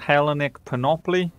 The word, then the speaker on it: Hellenic Panoply: look at another mod this one is called helenic penopoly that's how you pronounce it so what this mod does is